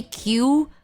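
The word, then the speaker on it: queue: But then for some reason, we still say Q and we spell it Q U E U E. Even though if you remove all the other letters aside from the first letter, it would still be Q.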